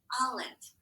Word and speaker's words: olive: But I know it's if, so that's the exception because that vowel is short, but the E is silent. Olive.